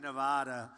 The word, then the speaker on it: Nevada: out here I said nobody says it the other way it has to be in Nevada right and if you don't